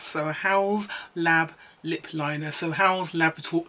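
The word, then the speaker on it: Haus Labs: say this properly a house lab so pronounce it like house so a house lab lip liner so howell's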